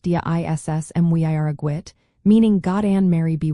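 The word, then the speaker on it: Dia is Muire dhuit: The common response you might hear is Daya is Muhirgwid, pronounced Dia Iss Mwiragwit, meaning God and Mary be with you.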